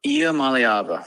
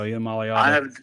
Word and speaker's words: Iamaleava: Nico Iamaleava. There you go, Iamaleava. I have taken your approach, and you have to make like songs and make it like break it down syllable by syllable. Iamaleava.